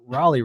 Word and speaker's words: Raleigh: you know obviously you couldn't call it Sir Walter Riley but uh or Raleigh rather as I mispronounce everything